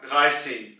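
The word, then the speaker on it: dreizehn: और यहां पे आप पहले 3 की आवाज निकालेंगे डगाए, और उसके बाद आप सेन की आवाज निकालेंगे सेन, तो ये बन जाएगा डगाए सेन, डगाए सेन।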